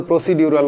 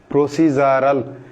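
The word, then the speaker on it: procedural: প্রসিডিউর কিন্তু হবে প্রসিজার তারপরে আসেন প্রসিজারাল হবে বলতো প্রসিডিউরাল অনেকে বলতো কিন্তু হবে প্রসিজারাল সোলজার এইযে দেখেন ইউকেতে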